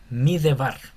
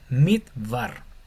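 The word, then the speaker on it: מדבר: Si esta tuviera en vez de una hire, una jire y debería yo pronunciar m de bar, pero como tiene solamente la jire, que es una vocal corta, esta e no se pronuncia, esta lleva sería midvar por vocal breve.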